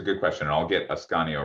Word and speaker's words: Ascanio: Asanio, is that how you pronounce it? It's Ascanio. It's Ascanio, Ascanio, but great.